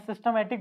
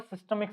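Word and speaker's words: systemic: मैं सिस्टमैटिक बोल रहा था कि इसका एक्चुअल जो प्रोनाउंसिएशन है वो सिस्टमिक सर्किट, सिस्टमिक सर्किट, ठीक है, सिस्टमिक सर्किट।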